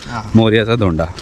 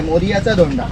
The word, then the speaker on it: मोरयाचा धोंडा: त्या स्पॉटवर आपण चाललोय आम्ही मोर्याचाच धोंडा बोलतो पण क्च्युली ते नाव असं आहे मोरयाचा धोंडा मोरयाचा धोंडा इथे प्रोनन्सिएशन करताना मोर्याचा धोंडा बोलतात हा नॉर्मली इकडचे लोक मोर्याच धोंड मोर्याच धोंड हा हा मालवणी लँग्वेजमध्ये तर मित्रांनो आता आपण